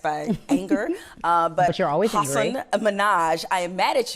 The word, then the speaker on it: Hasan: They go sometimes HASSAN. Yep. But the part, in Southeast Asia where my family's from, it's pronounced Hasan.